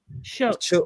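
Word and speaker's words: Shough: Oh, it's pronounced Chuck. Yeah. Chuck or something like that.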